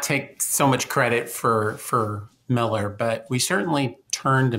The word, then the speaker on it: Mueller: It's spelled Mueller if you're Googling it online, but we all say Miller.